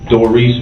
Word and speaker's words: Doris: Doris, is that how the correct pronunciation of your first name? Mm-hmm.